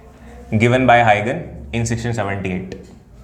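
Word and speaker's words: Huygens: Next जो person है वो आ रहा है हाइगन। स्पेलिंग देख के लिख लेना, HUYGEN, हाइगन्स वेव थ्योरी।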